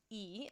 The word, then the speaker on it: y: French pronoun e so it looks like Y but it's pronounced e in French so this is going